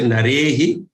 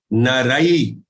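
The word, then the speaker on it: नरैः: The pronunciation has to be, don't say narehi, naraihi.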